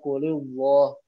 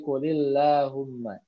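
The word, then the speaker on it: قل اللهم: kasrah qulillah ummagelang qulillahu Bukan kurullah tapi qulillahumma begitu ya itu dan ini yang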